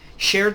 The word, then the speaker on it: shared: Shared experience. Shared their experience. You Two see, physicians. uh, just a note. I never pronounce the E like shared, right?